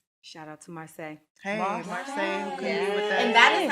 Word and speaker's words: Marsai: and issa rae shout out to marseille hey marseille okay and that is how you say it